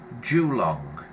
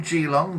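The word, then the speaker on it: Geelong: Wesley says I think the pronunciation of the place is Julong. Julong Gilong. Gilong. It could be any of those.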